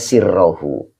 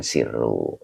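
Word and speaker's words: سرّه: begitu Pak maka bacanya sirrohu qdasa sirohu berarti Allah mensucikan e terhadap batinnya kalau quddisa di sucikan begitu oke Pak nurkhawif Oke Pak Nur ya Jadi boleh dibaca qoddasa sirro jangan sirru yaah tapi kalau dibaca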